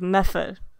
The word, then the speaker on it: Medford: No, I used to live in a place that is spelled Medford, and people from there call it like method.